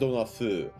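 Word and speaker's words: 風: in this case, dona fu, it's pronounced dona fu, which means what sort of, what style of.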